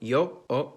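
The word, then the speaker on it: ё: In almost all of these languages, its name is yo, and it makes the sound yo.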